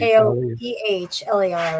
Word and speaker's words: Koehler: And so Tony Anchetta, Keeler, or it's spelled Kohler, Koeh, I think. Koehler, right?